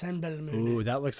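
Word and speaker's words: Simbelmynë: Belo Simbelmin. It's pronounced Senbelmoon.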